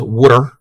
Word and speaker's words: water: That is how we pronounce water, is wooder.